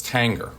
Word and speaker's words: Tanger: this is it Tanger is it Tanger but after some digging it turns out it's Tanger at least on the four out of five sites that I checked we're kicking things off